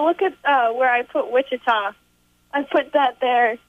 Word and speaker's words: Wichita: at where I put Wichita I put that there because God pronounces it with cheetah yes yes Wichita coming